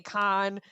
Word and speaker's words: Kahan: a bunch of times I don't know which way to pronounce it in the Boston the Boston Emmy wants to say Khan and I think that's correct but it's not spelled that way so yeah k-a-h-a-n I think it is though I think it's